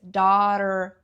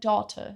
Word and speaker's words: daughter: E assim como eu brinquei, daughter, no inglês americano tem essa pronúncia. daughter. R daughter, daughter. Mas ela na música canta daughter. The eldest daughter. Ela diz esse t. E não é que esteja errado, tá? Você pode pronunciar das duas formas.